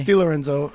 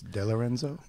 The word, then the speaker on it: De Lorenzo: Yeah, according to 23 it's Di Lorenzo. If you pronounce it correctly, it's De Lorenzo.